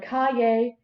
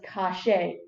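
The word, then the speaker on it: calle: means street and english the y is pronounced with an sh sound so instead of kaye it's pronounced as cache instead this dialect also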